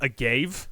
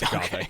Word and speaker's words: agave: But can you tell me what is the deal with agave? Uh, well, when you read it, it was like it's pronounced agave, but it is in fact pronounced agave.